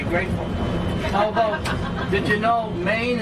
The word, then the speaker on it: Maine: Although, did you know Maine is the only state in the country with one syllable? Look at Ohio, right?